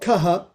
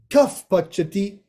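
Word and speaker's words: कः पचति: Now, it's not kaha in this case. It's kaf. Kaf pachati. When there's a pa following the visarga, it becomes a fa.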